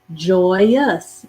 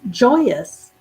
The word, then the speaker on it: joyous: the word joy joy the y does have the yes sound in this word it's just very soft very faint joy and then we have us ou s joyous joyous j-o-y-o-u-s joyous so you're like